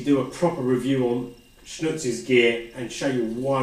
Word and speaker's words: XNÜTZ: branding on it, pronounced XNÜTZ, obviously spelled XNU, or the German U with the 2 dots, TZ, XNÜTZ. But if we got rid of the X, you would just call it nuts, because this item is actually quite nuts.